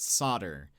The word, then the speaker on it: solder: up, and I said the Americans are saying that I say solder wrong, and he was like, well, then you're probably saying it wrong. And I said they pronounce it solder, and he was like, oh, then they're wrong. And I was like, thank you. Where did the L go? You can't just get rid of it.